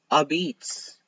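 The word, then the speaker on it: apizza: no no it is New Haven style pizza which is a Beats except it's spelled as a pizza it's literally spelled a p i z z a and these people are out here saying it's a beats that that doesn't that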